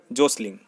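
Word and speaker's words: jostling: Question number 31, what is the meaning of the word जोसलिंग? टी is silent here.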